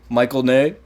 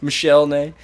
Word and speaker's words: Michel Ney: Here's another marshal, Michael Ney. Michael Ney. Michel Ney.